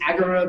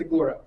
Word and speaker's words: agora: correctly an Agora uh some might pronounce it agura but I think it's Agora um it is the